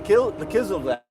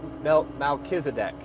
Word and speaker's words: Melchizedek: who is John Galt I say who is the kill the kiss of black I just butchered that someone someone spelled that up for me who's that that shadowy prophet in the Old Testament Melchizedek thank you Melchizedek that was so high